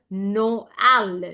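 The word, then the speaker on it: Noël: So I'll be pronouncing this as Noel.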